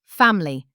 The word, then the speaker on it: family: Family. Family. Three syllables not two.